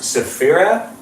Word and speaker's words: Safera: being here as well it's pronounced safera her name is said safera did I say it